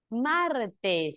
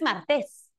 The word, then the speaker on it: martes: Martes. No es martes, es martes. Cuando tengas duda de saber cuál es la sílaba tónica, exprésalo con énfasis, con fuerza. ¿Cómo es? Martes o martes. Ah, martes. Es grave.